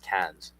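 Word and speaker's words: Cairns: And uh Queensland goes all the way up to Kes or Kairens it's spelled but pronounced Ks in the north um up up near Cooktown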